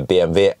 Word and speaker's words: BMW: charting curve of the bmv ix3 yes by the way why do i call it bmw or false bargain because that's the correct name that's the correct pronunciation in the german way yeah so i actually